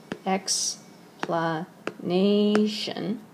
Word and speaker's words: explanation: explanation and remember that that One X planation stress goes on the penultimate syllable not the final syllable gratification or its adjective